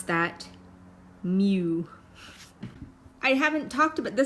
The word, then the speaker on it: mu: 10 that's basically a population mean and you pronounce that mu I haven't talked about the standard deviation and